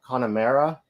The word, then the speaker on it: Connemara: of Ireland and it's I think it's pronounced uh Connemara but um it just